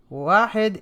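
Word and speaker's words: واحد: the numbers okay so we have here uh wahed is the number one okay so uh uh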